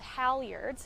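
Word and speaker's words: halyards: They're called Howiards. Howards. And you will spell that.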